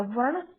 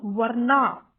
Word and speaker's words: वर्ण: अब इसमें वर्ण का जो स्पेलिंग इंग्लिश में लिखा है ये ए है, VARNA, तो इट इज नॉट वर्णा, इट इज वर्ण।